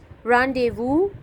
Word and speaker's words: rendezvous: Rendezvous, S is silent.